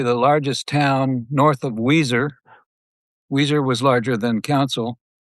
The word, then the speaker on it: Weiser: And it is not spelt like the band Weezer, which happens to be one of my favorite bands. It's spelt a bit differently than that.